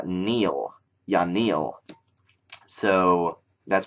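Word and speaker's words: Yanille: now uh which I used to call it yanel but it's not actually pronounced that way it's y Neil yanil so that's pronounced yanil not yanel um xanis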